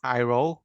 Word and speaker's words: Jairo: My name is Jairo. As read, I put the phonetic pronunciation of my name there. I don't mind if people call me Jairo or other names in different languages, but this is the way I am called.